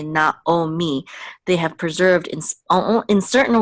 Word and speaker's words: Naomi: others like um Naomi they don't say naami they say not oh me they have preserved in